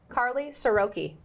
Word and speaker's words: Karly Siroky: networks where I'm excited to introduce Our Guest Carly soroki say it right yep perfect with a name